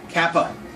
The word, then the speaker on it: Kappa: one is a k Kappa k a p p a and it's pronounced just like an English k and it's used like